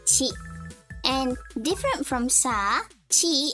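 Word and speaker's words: ち: Not T, but chi. Chi. Okay? It's pronounced chi.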